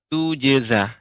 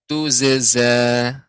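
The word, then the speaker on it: تجزى: Ainda, kemudian tentu dan tuzeza. Yang benar tujeza. Ibu bisa mendengarkan perbedaannya. Saya baca yang pertama menggunakan huruf jim. Tujeza dengan zai. Tuzeza. Nah, berbeda.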